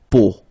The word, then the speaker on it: peau: three vowels combined together, it's the sound O, okay, so really simple, O, okay, so you get la peau, okay, la peau.